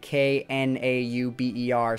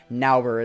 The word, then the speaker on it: Knauber: Totally sorry if I'm not, but I believe the K is silent, and K-N-A-U-B-E-R, so Nauber is how I would pronounce it. If it's Knauber, that, okay.